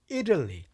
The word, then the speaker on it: Italy: 발음인데 대부분 다 발음은 이탈리가 아니라 Italy 이렇게 발음합니다.